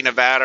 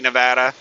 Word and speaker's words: Nevada: It's kind of like Nevada and Nevada. There's a lot of people who pronounce it Nevada, and I've lived in Nevada, and the locals laugh at people who pronounce it as Nevada.